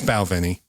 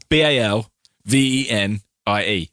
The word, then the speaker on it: Balvenie: well it's valve here's belvini dalvini is the most common b-a-l v-e-n-i-e bow then e that's the most common way of pronouncing it i've been hearing so uh balvini balveni you know do